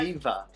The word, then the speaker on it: Ewa: do it is because your name is spelled E-W-A, but you say Eva. So it sounds like it's a V.